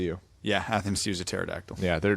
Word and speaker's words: pterodactyl: yeah have him Sousa pterodactyl yeah their names are pretty much spelled exactly the same yeah sure yeah there's a silent P and a thinnest you